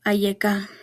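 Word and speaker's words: אַיֶּכָּה: Pronunciación en el hebreo, Ayeka.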